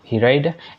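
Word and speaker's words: read: यस ही did, sorry ही है यहाँ पे, तो यस ही डिड, ही रेड एट the library, यहाँ पे रीड पढ़े तो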